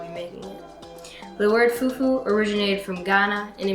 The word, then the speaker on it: Fufu: going to be making an African dish called Fufu pronounced f-u-f-ufu but then answer it can be a